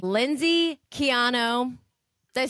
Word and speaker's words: Quijano: Kicking off 2025, I have my first guest of the year of season 3, Lindsey Quijano.